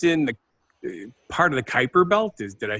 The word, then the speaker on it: Kuiper: The Kuiper Belt is how you pronounce.